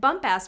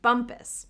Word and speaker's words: Bumpass: They'd like you to know that the name is pronounced Bumpus.